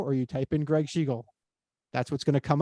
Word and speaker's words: Schigiel: a bit of an oxymoron because my name is spelled strangely, but it is Gregg, Gregg, and my last name is Schigiel, Schigiel.